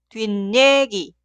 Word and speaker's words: 뒷얘기: Y se pronuncia 뒷얘기, 뒷얘기.